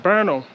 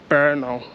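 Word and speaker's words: Brno: in um in Oldtown berno and I like the name as well so it's spelled b r n o and it's pronounced berno berno um so um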